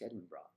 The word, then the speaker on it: Edinburgh: Pronounce Edinburgh, please. Yes. Oh, hello, it's Edinburgh.